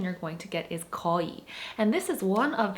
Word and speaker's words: 거의: are ko and but you don't need to pronounce the ui so specifically you can just pronounce it as koi and it's okay now